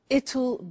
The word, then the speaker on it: it'll: I said tomorrow it'll be cold. You notice how it will becomes it'll. It'll. Strange pronunciation, yeah?